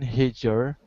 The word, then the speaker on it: Heidegger: Many, such as the I don't know how to pronounce that, prominent philosopher Martin Heidegger also holds serious reservation about technology.